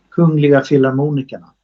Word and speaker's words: Kungliga Filharmonikerna: Kungliga Filharmonikerna.